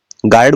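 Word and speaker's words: guard: क्या है वोल है तो यू का उच्चारण नहीं होगा क्या लिखेंगे गार्ड गार्ड बोलेंगे यह देखिएगा यू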